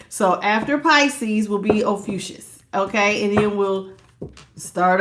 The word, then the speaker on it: Ophiuchus: I always forget how to pronounce it. I gotta open it up. I got it on my phone. Ophiuchus.